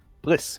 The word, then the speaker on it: Blisk: How would we pronounce Blisk? Blisk? Blisk, we are Blisk. Blisk, okay. As in Ultralisk, Hydralisk, Hydralisk, Blisk. Blisk.